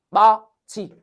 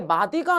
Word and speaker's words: 맞이: 이거 발음 어떻게 해요? 마지. 아니 왜 마디가 아니고 맞이라고 발음하는데 이유는 뭔데? 앞에 뭐가 있고요? 디귿이 있고요. 뒤에 무슨 모음이 있어요? 이 모음이 있어요. 그럼 디귿과 이 모음이 있으면 디귿이 뭐로 바뀐다고요? 지읒으로 바뀐다고요.